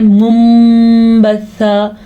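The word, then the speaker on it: مُنْبَثًّا: ٹھیک ہے، آگے پھر ہم سے غنہ ہو رہا ہے منبثہ، کیونکہ یہاں پہ اقلاب کا قاعدہ ہو رہا ہے. یہ آپ کو نون ساکن نظر آ رہا ہے، نون ساکن اور چھوٹا سا میم. میم اسی لیے آیا ہے جب نون ساکن کے بعد با آ جاتا ہے یا نون تنوین کے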